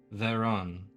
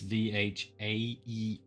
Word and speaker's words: Vhaeraun: We'll say North America D&D is Veron. It's Vhaeraun. Vhaeraun.